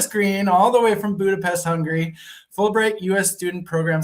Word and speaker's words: Budapest: So I've heard two different pronunciations. Like there's Budapest and Budapest. And I think I always forget which one I actually say until I say it. And I'm pretty sure Budapest. They don't pronounce the T.